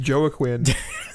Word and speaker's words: Joaquin: pronounced an accident Brady it is just Joe a Quinn and Jake Gyllenhaal yeah